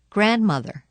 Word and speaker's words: grandmother: but it's so dirty the letter D is silent in the following words read them as you repeat them during the pauses Wednesday grandfather grandmother grandchildren hankerchief practice in